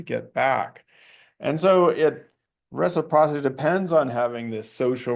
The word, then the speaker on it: reciprocity: That's a basis of reciprocy. Yeah, it's a hard word to pronounce.